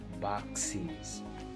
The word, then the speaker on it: boxes: N'oubliez pas la prononciation du ES qui est is, boxes.